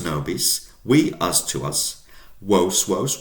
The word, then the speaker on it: vos: You guys, plural, 2 or 2 million, is spelled with a V, vos or wos, nominative, wos, accusative, wobis, dative, to you or for you.